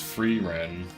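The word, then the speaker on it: Frieren: are obsessed with it it's pronounced free Ren I don't really remember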